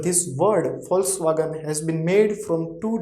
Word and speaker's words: Volkswagen: also totally different because v is becoming for see identity is how but pronunciation of this alphabet whenever it will come in word it will be for for example i think all of you know this car name volkswagen right volkswagen this word